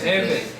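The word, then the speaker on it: הבל: No tiene nada que ver Abel en hebreo se dice Hevel. No, no tiene nada que ver con Dios. Hevel. Hevel, se escribe con H, así, Hevel.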